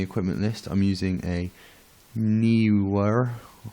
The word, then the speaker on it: Neewer: Next on the equipment list, I'm using a Neewer. It looks like newer, but it's spelled Neewer.